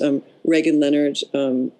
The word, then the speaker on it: Regan Leonard: Regan Leonard, I should say, because that's how she pronounces her name, and her daughter Jessie